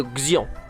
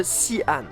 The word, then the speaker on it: Xi'an: Aujourd'hui je vous présente la ville de Xi'an. Il y a un problème de prononciation là. Aujourd'hui je vous présente la ville de Xi'an.